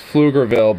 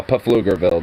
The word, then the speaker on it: Pflugerville: name is uhflugerville dude I'm gonna say it like that purposely I know it's flugerville but now puff lugerville dude ISD Middle School whose